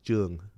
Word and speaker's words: Trung: The correct, that I always go by Trung because that's the easiest, right? But the correct pronunciation of my last name is Jung.